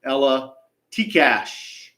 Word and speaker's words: Ella Tikash: Her name, and again, thanks to Nichols for providing a pronunciation, Ella Tikash.